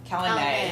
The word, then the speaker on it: Calanmai: or Calanmai. I don't know. It's M-A-Y is the last one. M-A-Y. Oh, then it's Calanmai. Calanmai. Calanmai. Okay, so we've been saying that wrong.